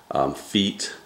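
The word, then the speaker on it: Feit: It's actually F-E-I-T, feet.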